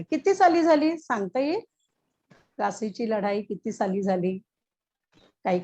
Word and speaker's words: Plassey: Teacher Plessis. हा बरोबर, तर इंग्रजीमध्ये आहे ते नाव प्लासी. प्लासीची लढाई आपण गेल्या पाठात पाहिलं होतं. प्लासीची लढाई. हा, प्लासीची लढाई किती साली झाली सांगता येईल? प्लासीची लढाई किती साली झाली, काही कल्पना आहे?